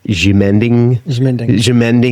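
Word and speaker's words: Ximending: And I think it's pronounced Jimending areas.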